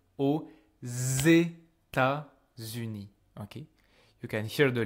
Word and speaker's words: aux États-Unis: Because even though this word by itself is pronounced O, I can hear there's a X because of the liaison I'm doing with États-Unis. I say aux États-Unis.